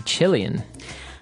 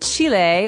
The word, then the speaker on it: Chile: a Brazilian and a Chilean. Okay, so Brazilian. In this country, there are many Brazilians. And Chile, or Chile, as many Americans say, has people called Chileans.